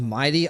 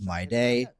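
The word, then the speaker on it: Mydei: Instead of Mighty, I thought it was My Day.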